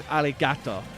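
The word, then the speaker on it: ありがとう: in in Japanese is aligato am I right or am I misremembering something no it's not alligator it's AR it's just because of the accent the r is pronounced like an L that's also the same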